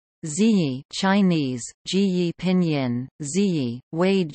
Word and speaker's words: Zhiyi: Zhiyi, Chinese, Zhiyi Pinyin, Zhiyi, Wade Giles, Chi I, Japanese pronunciation, Chiga, Korean, Jui Vietnamese, Tri Gi, 538-597